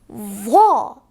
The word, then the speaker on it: ظ: But for va, we pronounce it very thick and high and take out lots of air. Va.